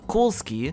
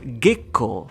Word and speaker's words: Kozuki: a family name, Kozuki, the meaning of this kanji is moonlight, which in Japanese can also be pronounced as Gekko. Do you now realize Gekko, or written in katakana as Gekko, is just an alternate reading of Kozuki?